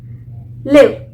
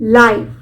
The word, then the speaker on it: live: एल आई वी ई लिव कब हम pronounce करेंगे जब हम इसका यूज एज अ वर्ब करते हैं क्रिया की तरह करते हैं for example I एम लिविंग in Delhi मैं दिल्ली में रह रही हूं तो यहां पर मैंने इसका प्रोनाउंस कि इसको प्रोनाउंस किया लिव यानी रहना अब लाइव लाइव कब प्रोनाउंस करूंगी जब मैं इसका यूज एस एन एडजेक्टिव करती हूं जैसे बोलते है ना